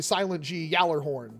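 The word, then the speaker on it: Gjallarhorn: I understand that it's most likely Silent G Gallarhorn.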